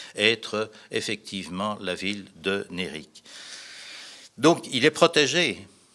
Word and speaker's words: Nérik: Là aussi, comme ça se prononce, N et accent aigu, R-I-K. Nérik est une ville plutôt